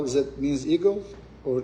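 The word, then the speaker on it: Eigel: Is that means eagle or? How do you pron pronounce that? Tell us how do you pronounce i g l. Eagle. Eagle. Like the one you fly.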